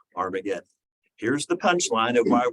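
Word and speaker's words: Har-Magedon: He says that the place in Hebrew is called Armageddon. And by the way, the true pronunciation is Har-Mageddon.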